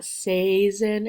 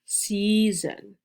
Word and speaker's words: season: long e season note you don't hear an a there's no ah or a it's not cesin or assassin it's season and that's because the e and the a are together and the a helps the e say its name say e season this